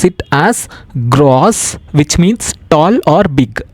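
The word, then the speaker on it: groß: Example, GRO, beta symbol, which we pronounce it as gross, which means tall or big.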